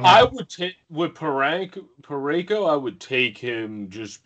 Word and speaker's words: Parayko: don't see anybody on here that, because Colton Parayko, did I say his name right? Parayko, yeah.